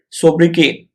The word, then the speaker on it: sobriquet: The correct way of pronouncing this word is sobriquet. Sobriquet. Or some people say sobriquet also, but sobriquet.